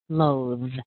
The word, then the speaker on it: loathe: really hates his job so we start with the same sound L that l sound but instead of the ooh now we're going to use the o o o as in go and no and a home these